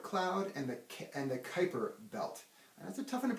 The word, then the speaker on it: Kuiper: and the and the Kuiper belt that's a tough enough pronounced name it's actually spelled that's actually pronounced Kuiper kind of like Viper with a K alright so the Oort